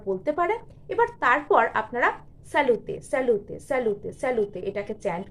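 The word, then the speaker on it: salute: অপরের হয়ে করা যায় এটা হচ্ছে স্যালুটে বা এটাকে স্যালুটও বলা যায় স্যালুতে বলাটাই বেটার হবে স্যালুতেই অথেন্টিক প্রোনাউন্সিয়েশন স্যালুতে স্যালুতে স্যালুতে এভাবে আপনারা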